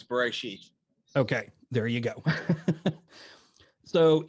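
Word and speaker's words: בְּרֵאשִׁית: I don't know how to pronounce this word. It's either... You do. You do? It's Bereshit.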